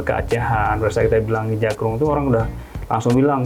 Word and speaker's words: Ija Kroeng: Tapi kita pakai spelling yang ada Indonesia Inggrisnya, ada E-nya, Ijakroeng gitu. Oke, tapi bacanya tetap Ijakrung ya.